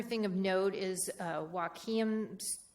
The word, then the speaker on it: Wahkiakum: Um, the other thing of note is, uh, Wahkiakum's Wahkiakum School District. Um, that's in southern Washington, and I apologize if I pronounce that incorrectly.